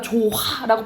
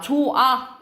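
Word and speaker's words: 좋아: 거예요 예를 들어서 봐봐 우리가 조화라고 발음을 발음 안 하잖아요 그렇지 자 조아 이런 식으로 히읗이 탈락된다라고 보시면 되겠죠 그리고 시럽 이런 식으로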